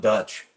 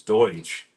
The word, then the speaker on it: Deutsch: It's not Dutch. It's Deutsch.